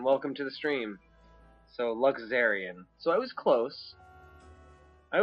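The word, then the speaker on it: Luxerion: So Luxurian. Luxurian. Luxurian. Okay, so it's a Z sound, not a sh. Okay. Luxurian. Okay. All good, Osfox. Thank you very much, and welcome to the stream. So, Luxurian.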